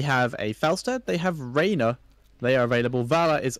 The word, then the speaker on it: Rhaenyra: Same as Rhaenyra. But Rhaenyra is A-Y and... Yes, but it's still pronounced the same.